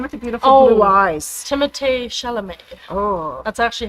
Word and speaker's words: Timothée Chalamet: Timothée Chalamet. Oh, That's actually how you say his name. Timothée Chalamet.